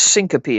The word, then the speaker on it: syncope: They can, also known as syncope, I think is how you pronounce that, right? yes, yes. That's a good word, isn't it? Yeah, I like it. It's fun to say, syncope.